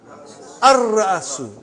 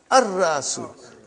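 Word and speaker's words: الرأس: How will you pronounce? Al-Ra'asu. Not Al. Al-Ra'asu.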